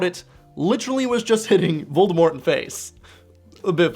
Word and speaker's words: Voldemort: that in the films, they do not pronounce the T in his name. They say Voldemort.